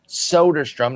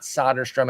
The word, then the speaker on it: Soderstrom: But we're going to start with the big dog, Tyler Mfin Soderstrom, not Solderstrom as I pronounced it back on January 17th